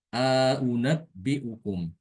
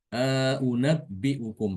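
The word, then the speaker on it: أَؤُنَبِّئُكُم: Jadi nanti bacanya untuk lafadz a'unabbi'ukum dibacanya a'unabbi'ukum. A'unabbi'ukum ditambahkan panjang sedikit alif. Dua harokat ya.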